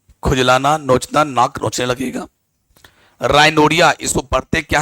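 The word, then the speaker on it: rhinorrhea: राइनोरिया, इसको पढ़ते क्या है? राइनोरिया, ध्यान से देख लीजिएगा, राइनोरिया पढ़ते हैं आप।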